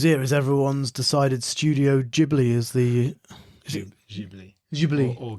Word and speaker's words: Ghibli: So, the big news here is everyone's decided Studio Ghibli is the Ghibli.